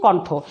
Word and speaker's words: কণ্ঠ: কণ্ঠ লিখছি কণ্ঠ, কণ্ঠ উচ্চারণ করছি না, করছি কণ্ঠ।